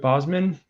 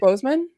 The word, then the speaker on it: Boseman: i'm gonna i'm chadwick bosman i'm gonna say his name right chadwick boseman boseman i'm like i always get his last name pronounced wrong um but yeah like